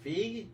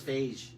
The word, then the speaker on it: Feige: Feige? That's Feige. No, Feige. I'm making it up. I thought it was Phage because beige spelled the same.